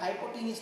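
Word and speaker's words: hypotenuse: थोड़ा स्पेलिंग सही कर लेना, पर हाइपोटीनियस बोलते हैं।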